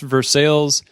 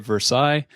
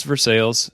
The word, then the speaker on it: Versailles: ever around Versailles Kentucky and yes it's it's pronounced Versailles in Kentucky if you are outside of Kentucky some would call it Versailles but it's for sales and it's probably one of my favorite bourbon